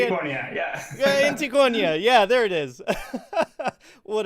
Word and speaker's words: Antiquonia: Today we have with us Rubén, the creator of Intruder in Antiquo. I didn't even think about the name. I was supposed to find out how to say it. Antiquonia, yeah. Antiquonia.